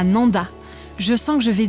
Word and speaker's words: Nendaz: dans la région de Nanda et vezona au fait Nanda et Vona ça s'écrit avec un Z à la fin mais on ne le prononce pas c'est comme ça ici c'est la règle je viens d'arriver au